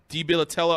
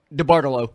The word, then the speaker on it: DeBartolo: Jed York and that whole DiBilatella, I don't know how to say the family's name or whatever. DeBartolo.